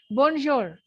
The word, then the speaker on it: bonjour: writing it down bonjour this R is not pronounced the last consonant is never pronounced in French and this J is z s h J B you will not pronounce the N also bour or or it